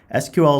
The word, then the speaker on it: SQL: SQL is pronounced SQL, and it's the standard language for accessing and manipulating data in a relational database.